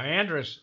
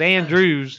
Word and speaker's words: Andrews: yeah the warthog baby now Andrus it's Andrus over next Andrews that's how they say it uh yeah but I I but me being from North Carolina you know it was Andrews that's like when you